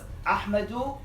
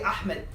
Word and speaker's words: Ahmadu: His name was Ahmadu Bamba. Don't say Ahmed. His name is Ahmadu. All right? Because that's how they say it.